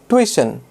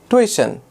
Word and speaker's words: tuition: The next word is tuition. Tuition. Not tuition. No, not tuition. Tuition. The pronunciation is quite similar to the word intuition.